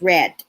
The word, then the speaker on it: read: will have read so even though the word is spelled read right it's pronounced red by the end of the term the students will have read all required materials or